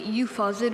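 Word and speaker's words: euphausiid: Okay, euphosid, were there any alternate pronunciations, or is it just the one?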